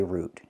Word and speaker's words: route: In the United States, we pronounce it either way. You can say route or you can say root. Either way is fine.